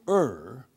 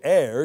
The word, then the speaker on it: err: number one if you err and that's the proper way of pronouncing the word er when you er you make an error but you don't air you er if you er er